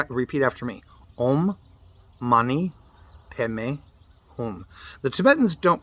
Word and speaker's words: Padme: They pronounce it Peme, and that just happens to be part of the Tibetan tongue.